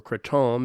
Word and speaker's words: kratom: I also got addicted to kratom, or kratom as it's correctly pronounced.